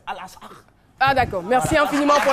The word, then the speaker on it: Al-Aqsa: Ça c'est en français, sinon en arabe c'est Al-Aqsa.